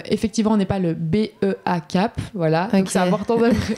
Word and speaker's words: BEA'kap: Euh, effectivement, on n'est pas le B E A CAP. Voilà. Donc, c'est important de c'est important de le prononcer.